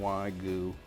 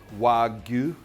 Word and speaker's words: Wagyu: specifically snake river farms i understand that wagyu is the pronunciation the correct pronunciation for that which means japanese cow japanese gu means cow probably still mispronouncing it